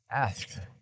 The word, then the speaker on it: asked: It's just difficult for me to get that K sound in there. Asked. I used to say asked.